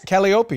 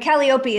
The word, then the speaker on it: Calliope: with a great name calliope right calliope but calliope is how you pronounce it if you're greek are you greek nolan